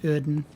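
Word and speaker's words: Oedon: I believe it's pronounced Uden.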